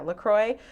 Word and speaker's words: LaCroix: to some of the bubbly or maybe the LaCroix. Is that how you say it? Yeah, LaCroix.